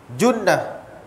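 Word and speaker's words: جُنّة: Tapi bahasa Arab, ejaan masih sama, cuma tukar bunyi. Jannah, jinnah, junnah.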